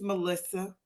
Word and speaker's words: Malysa: me to introduce myself it's Melissa you spell that m a l Ys a and when you flip it around and pronounce it again it sounds like Asylum yeah I know that's